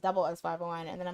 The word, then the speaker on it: SS501: I I I call them SS501, and then I heard it's pronounced double S501, and then I'm like, I'm your man 그대여, 달라다 오늘도.